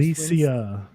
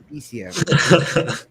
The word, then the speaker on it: Elysium: Alicia. Elysium. It's important that you say it right.